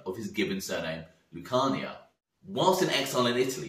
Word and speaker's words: Lucania: Lucania, and started to shorten it to just the first syllable, Luke, which sounded like luck, which then on the street evolved into Lucky.